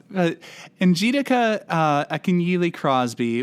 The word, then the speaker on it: Njideka Akunyili Crosby: this correctly, because I think last season I mispronounced somebody's name in almost every episode. Njideka Akunyili Crosby.